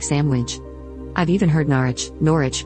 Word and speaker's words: Sandwich: In the place name Sandwich, in the county of Kent, UK, it is generally pronounced in full, i.e. sandwich. However, in very rapid or lazy speech, it's pronounced like sandwich.